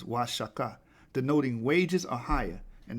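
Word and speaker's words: Oaxaca: could pronounce these names so o in the Spanish cadis is pronounced y the X in the Spanish cadis is pronounced sha the correct pronunciation of wasaka is wasaka denoting wages or higher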